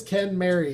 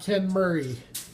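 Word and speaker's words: Kenmeri: Ken Mary skyline and yes it is Ken Mary it's not ken Murray I mean I guess you could pronounce it ken Murray if you want to but that's incorrect there's a sick little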